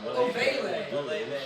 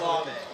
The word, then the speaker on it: Olave: She just called Olave Ovele. Some really special throws. Maybe I'm wrong, but I don't like that stuff. No, it's Olave.